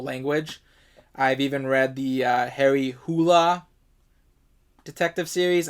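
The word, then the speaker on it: Harry Hole: I think that's how you actually pronounce his name. Although the author says he doesn't care if you pronounce it whole, but I believe the actual pronunciation of that is Harry Hula.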